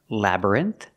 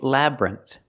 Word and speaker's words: labyrinth: and Maze first pronunciation Labyrinth has two pronunciations you can make it like three syllables and say Labyrinth or you can make it like two syllables and say Labyrinth Labyrinth it has two